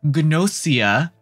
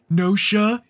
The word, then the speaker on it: Gnosia: the site we have gnosia i know everyone's saying that pronounce nosha is it nosha no full gnosia and i said ganosha in my review but that's because i'm gaijin dude i'm just a